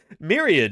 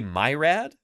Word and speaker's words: myriad: sorry they had a what is he just mispronouncing like plain English words now did I Myriad yeah it's Myriad did he say my rad oh boy from towering herbivores to the frightening